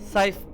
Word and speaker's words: Scythe: which is saf one side side how do you say that anyways it's scythe one is the lava planet